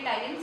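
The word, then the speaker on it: ptyalin: ठीक है, P silent होता है तो इसको हम बोलेंगे टाइलिन। सलाइवरी अमाइलेज का ही दूसरा नाम होता है।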